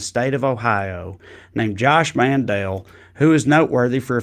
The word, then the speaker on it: Mandel: how to pronounce josh mandel's name because he now pronounces it mandel but up until a couple years ago it was josh mandel for his whole time in public life um he probably thinks it